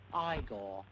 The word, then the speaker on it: Igor: just a moment Dr Igor marov is waiting to see you now it's pronounced aigor marov I don't know the